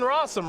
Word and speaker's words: Rosum: So Jonathan Rosum, rhymes with possum, rhymes with awesome, rhymes with all sorts of things, is doing just fine here this weekend.